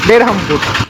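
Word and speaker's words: Berhampur: চলে এসছি উড়িসার বহরমপুরে তবে উড়িসার বহরমপুর উচ্চারণ হল বেরহামপুর আমাদের যেমন বহরমপুর উড়িসার হচ্ছে বেরহামপুর উচ্চারণটা একটু আলাদা চলে এলাম ব্রহ্মপুর স্টেশনের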